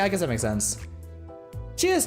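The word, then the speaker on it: 四: She has 2 pronunciations because 4 in Japanese is she, which sounds similar to she, death.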